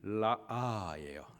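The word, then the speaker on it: ראה: 보았다에 해당하는 히브리 단어의 발음이 라아예요.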